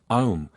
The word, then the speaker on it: Om: Om is, of course, Aum, that may be pronounced as 2, 3 or 7 syllables, setting up different vibrations.